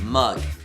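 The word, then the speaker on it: moong: my mom it is mug um as a lentil and it's how you pronounced m o o n g mug not not the mug that you see like M Yugi I this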